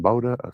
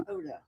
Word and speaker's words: Hoda: Bodha. They always say her name. Hoda.